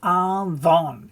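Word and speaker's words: עוון: So why is it avon? If we look down here, avon, the root of it is spelt with two vowels.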